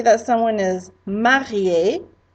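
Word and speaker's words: mariée: I might say that someone is marié, and if it's a girl, it's pronounced the same, but you do spell it differently.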